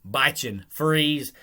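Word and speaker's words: Bichon Frise: And just so everybody knows, I know I said Bichin Fries, but to me, that's how you say it. But a lot of people say Bichin Freeze, but F-R-I-S-E to me is fries. So that's how I pronounce it.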